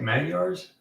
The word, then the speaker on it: Magyars: Meandering wants to find some 172 Magyars. Is that how you say it? Magyars, yeah.